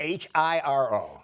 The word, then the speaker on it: Hiro: H I R O H I R O but pronounced Hiro.